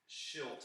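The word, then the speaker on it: Shildt: It's Schilt.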